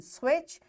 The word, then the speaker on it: switch: silent letters such as t in switch and g in high.